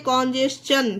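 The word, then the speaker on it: congestion: Okay, example देखिए, कॉन्जेशन, इसे क्या पढ़ते हैं, कॉन्जेशन, ठीक है, इसे टी को टा नहीं पढ़ा गया है, देखिए चा पढ़ा गया है, कॉन्जेशन, ठीक है।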